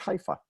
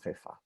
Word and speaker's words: Haifa: So most people will talk about Haifa using the Arabic pronunciation, but it's Haifa in Hebrew.